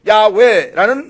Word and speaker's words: 야훼: 히브리어로 야훼라는 말로 발음되는 이 단어는 본래 히브리에서 4개의 자음 글자로 되어져 있습니다.